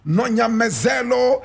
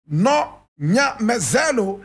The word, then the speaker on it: Nonyamezelo: Victoria Nonyamezelo Mxenge. And Nonyamezelo is spelled N-O-N-Y-A-M-E-Z-E-L-O.